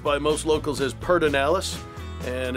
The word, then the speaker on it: Pedernales: we are at Pedernales Recording Studio, pronounced by most locals as Pedernales, and it's Willie Nelson's studio, and I've been working here for 21 years now.